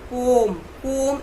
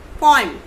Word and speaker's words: poem: Means very feeble sound of O, not completely O. Poem is wrong. It is poem.